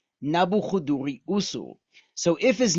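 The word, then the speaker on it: Nabû-kudurri-uṣur: And that is that his name in Akkadian, which is the language which he spoke, this is how you say his name: Nabuchuduri Usur, Nebuchadrezzar, Nabuchuduri Usur.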